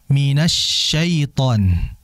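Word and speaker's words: من الشيطان: Kemudian berikutnya minasyaiton. Hati-hati ketika peralihan antara nun ke shin ya, itu ditahan dan jangan monyong.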